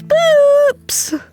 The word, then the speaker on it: Boops: Boops.